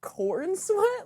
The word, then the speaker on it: Cornsweet: fun of his name because I didn't actually think that was how you pronounce his last name, but it was. And I was like, no, wait, Cornsweet?